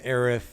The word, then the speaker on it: Aerith: characters where no one can agree on the pronunciation. I mean, you have Eris versus Aerith.